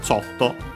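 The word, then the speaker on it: ちょっと: But yeah, a little accent on the cho, so yeah, before the to, like that usually is the case for these.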